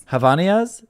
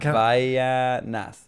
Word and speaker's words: Havaianas: If you guys know, this is from, I don't even know how to say it, but it's Havanias. It's like the end is like Havaianas.